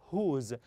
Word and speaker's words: whose: this we pronounce as whose so w here is silent W is sine so